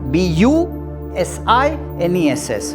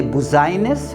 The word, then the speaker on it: business: importance do you say buzziness no no you is pronounced like I business and I is not pronounced at all and therefore my dear